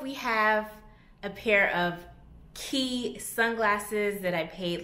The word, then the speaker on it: Quay: has key on it i always want to say quay because it's spelled q-u-a-y but i know the proper pronunciation is key but get into these